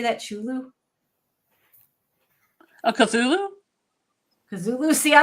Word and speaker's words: Cthulhu: Chulu? a Cthulhu? Cthulhu? See, I don't even know how to say it. That's how much. Say it with me. Cthulhu.